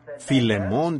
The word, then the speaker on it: Filemón: la falta de Educación Así que Filemón dijo alguien allá atrás lo cual creo que es la pronunciación correcta Ahora el primer versículo